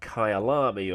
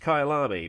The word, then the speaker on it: Kyalami: racing calendars the world over today i've got kylami or no it is actually pronounced kailami means my home in zulu according to wikipedia